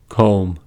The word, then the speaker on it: comb: First, B is not pronounced after M at the end of a word. These are examples: limb, plum, numb, crumb, dumb, comb, bomb, thumb, climb, tomb.